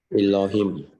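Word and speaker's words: אלהים: So you have the open syllable. Then okay, this is open syllable. Okay, and then this is a closed syllable. Okay, so it's bara, lo, him. See, easy. Bara Elohim, bara Elohim.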